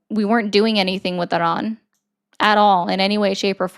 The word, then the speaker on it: Iran: You've already proven that you support Iran. How? And by the way, it's pronounced Aran. I just wanted to make sure that people were, hearing that that's what you said.